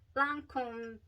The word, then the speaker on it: Lancôme: I thought I want to wear Lancôme, that's how you say it, Lancome's Idole.